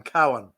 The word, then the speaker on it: Cowan: B-O-W is Bow, and C-O-W in my name is Cow. I'm Cowan. Not Okay, Cowan.